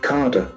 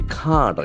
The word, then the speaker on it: cadre: Carder. Okay, it can be carder. It's not a sound, it's a sound. Carder is a brief a sound.